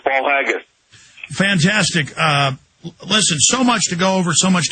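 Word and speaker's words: Paul Haggis: I'm pronouncing that Paul haggus I think I'm pronouncing that right uh Mr Miller it is it's Paul haggus fantastic uh listen so much to go over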